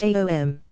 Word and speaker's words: Aum: Chant Aum, pronounced Aom. Visualize the A in your belly, the O in your heart, and the M vibrating in your forehead.